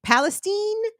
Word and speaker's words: Palestine: Because unlike where this train derailed in East, I believe they're calling it Palestine, because it's spelled exactly like Palestine, but I think, to sanitize it, they're calling it Palestine.